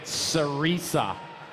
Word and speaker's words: Cerisa: Yes, that's how you say it, Cerisa.